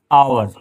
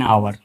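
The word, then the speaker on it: hour: जैसे ये आवर हम हाउस के आगे क्या लगाते हैं? एन आवर। क्यों? क्योंकि यहां पर एच साइलेंट होता है।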